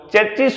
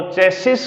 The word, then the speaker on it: chassis: नाम सुना होगा चेसिस, जिसको मोस्टली बच्चे या अपन लोग चेचिस बोलते हैं। वो चेचिस नहीं होता है, वो चेसिस होता है।